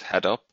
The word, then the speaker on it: Hadoop: you start using the Hado am I pronouncing that correct correct head up yes and any hints or